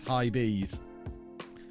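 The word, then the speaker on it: Hibees: It's pronounced high bees.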